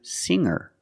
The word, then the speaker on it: singer: change sing to singer when I change these words with e i don't pronounce the G sound it's just the nasal M linked together with the r together hang hanger there's no G sound I cannot say hanger